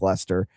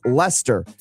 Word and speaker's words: Leicester: So it's Leicester, not Leicester.